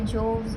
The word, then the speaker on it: Jovees: And now I pronounce it as Jovi's because that's comfortable for me. You can say Joves or whatever, however you want, you can pronounce it.